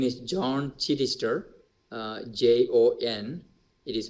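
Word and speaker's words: Joan Chittister: American uh Nun Sister Benedictine her name is John chirister j-o-n it is pronounced as John chirister C H I Double T i s t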